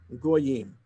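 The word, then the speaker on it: גיים: text 1,300 years ago, the accepted tradition was that that word Gimel Yud Yud Mem should be pronounced Goyim.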